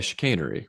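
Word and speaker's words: chicanery: Chicannery, how do you say that word? Yeah, chicainery. chicainery at home in order to secure the purchase of the Suez Canal.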